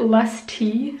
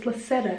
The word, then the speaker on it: Lacetta: That's I keep pronouncing it Less Tea, and I'm like, Less Tea. What? And then Mom's like, no, it's Lacetta.